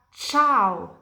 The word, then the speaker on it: ciao: Jadi, kapan di bahasa Italia kalian lihat C diikuti dari E atau dari I, pronunciasinya itu kayak campur. Jadi, ini dibaca cena. Ini dibaca ciao.